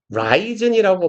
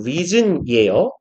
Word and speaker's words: risen: 학생들이 이거 은근 risen이라고 많이 읽는데 이거 발음 reason이에요. 발음 키워를 서로 잘 못 읽죠, 못 보죠. reason이라고 발음하셔야 돼요. reason.